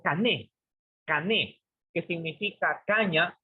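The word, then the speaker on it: κανών: La palabra canon es una palabra griega que se deletrea, se pronuncia como cané, que significa caña o vara para medir.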